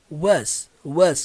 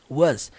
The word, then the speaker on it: was: Nós temos o hábito de pronunciar isso aqui como was, mas a pronúncia é geralmente mais puxada pro was, com o som do Z, was.